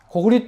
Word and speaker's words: 고구리: 모두 정말 정신 차려서 교과서를 바꾸고 고구려는 고구리로 고려는 고리라고 올바른 이름을 쓰지 않는 것을 강조하면서 강의를 마치도록 하겠습니다.